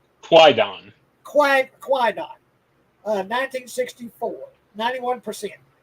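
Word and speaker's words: Kwaidan: I don't even know how to pronounce this. Quaidon? It's Quaidon.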